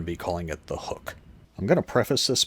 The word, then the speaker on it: Huuk: examining the B3 archery hook and hook mini it's spelled huu k so I think it's meant to be pronounced with some sort of twang like hook I'm from Pennsylvania and